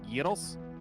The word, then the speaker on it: gyros: someone who knows how to correctly spell and pronounce gyros which is the way that you are supposed